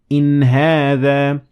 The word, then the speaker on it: إن هذا: So you will pronounce it normally like any other letter, and there was no harakat involved. So inna hadha versus in hadha.